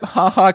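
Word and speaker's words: Ha Ha: clear false really yep HaHa Clinton-Dix did in fact play in the NFL is it pronounced haha yep it is oh you're gonna realize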